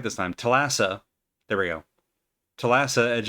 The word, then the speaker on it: Thalassa: Thalassa.